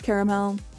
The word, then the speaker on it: caramel: Sometimes caramel, sometimes caramel. It kind of depends on like the context.